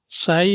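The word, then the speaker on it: psi: ठीक है, यहाँ पे साई क्या होता है, ये इस टाइप से लिखा जाता है, पी इसमें साइलेंट होता है।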